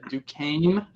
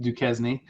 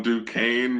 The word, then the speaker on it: Duquesne: Duquesne, which I just learned today is not pronounced Duquesne, at Florida State.